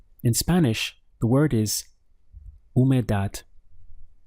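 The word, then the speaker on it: humedad: Spanish the word is who made that we have three syllables the H is silent so your pronunciation starts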